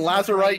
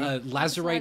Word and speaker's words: Lazurite: In my notes, in my script here, it is spelled Lazurite, as in like lapis lazuli. I don't know things. Is that a real thing? Lazurite is a real material that is a precious stone.